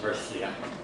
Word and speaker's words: Murcia: Murcia, it's pronounced Murcia.